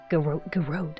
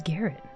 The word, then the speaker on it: garrote: I can't believe it's Garrot. Really? This is the most uncomfy word we have had all stream. And I just still can't pronounce it right. It just doesn't sound right in my head. I keep thinking it's Garrett.